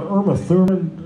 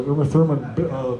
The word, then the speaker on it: Uma Thurman: one of those songs this I saw an Irma Thurman Irma how do you pronounce her Uma Thurman Kill Bill except I don't know if I